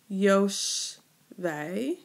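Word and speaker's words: יֹשְׁבֵי: And then I see that I have that A suffix rhyming with Binet, right?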